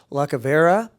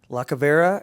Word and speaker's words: Lacavera: So I'd also like to call up at this point now Bianca Lacavera. Is that how I pronounce it? Yeah. Lacavera at Beckman High School as well.